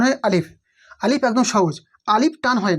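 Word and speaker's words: ثاء: গোড়া জীবের আদা এবং উপরের দুই দাঁতের গড়ার সাথে লাগিয়ে উচ্চারণ হয় তা আলিফ বা তাা সা উচ্চারণ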